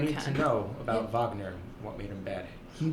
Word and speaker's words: Wagner: Yeah, it's Wagner. That's how you say his name.